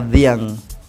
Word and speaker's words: Dhiang: Luo of Kenya, Dhiang. I said the. Let's say. Like TH, Diang. Yeah, it's more of a DH.